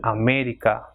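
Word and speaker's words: América: For example, America, ending in A but not, the stress is not in the second last, so it will have the accent mark on E, that is America.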